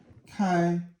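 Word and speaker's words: 开: Kai, it means, its first tone, it means to open up or also to drive something.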